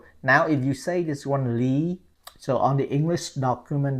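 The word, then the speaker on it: Lý: we we say it Lee Lee so not Lee so just like you pronoun L E Lee no this one totally different last name so l y Lee Lee okay now most of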